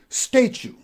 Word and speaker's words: statue: word, and that is pronounced as statue, not statue. We have two syllables, stray, chew. Not statue, but we say statue. So the stress goes on the first syllable and we pronounce it as statue.